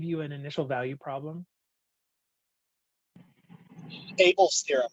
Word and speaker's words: Abel: an initial value problem abel's theorem right okay so so we had yeah it uh it's pronounced obvious theorem but yeah so um obvio's theorem where we could